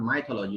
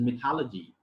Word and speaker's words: mythology: One word again, we pronounce it in a wrong way, and most of the speakers say mythology in Indian context, in Indian culture here. It is not mythology, it is mythology.